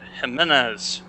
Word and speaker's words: Jimenez: have to pronounce it jimenez that is an h not a j i'm gonna take